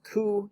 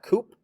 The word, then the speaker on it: coup: in 1991 uh so this word is pronounced ku not koop all right which is